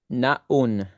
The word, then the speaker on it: Naun: Is it non lucero stado? Yeah. Na is the name. That's how you pronounce it. Like you know when you say good afternoon.